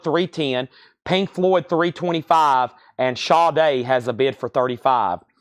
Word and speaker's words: Sade: Pink Floyd 325 and Shaw day has a bid for 35 now that's one of those names unless somebody tells you you would think it's pronounced Sade right unless somebody tells you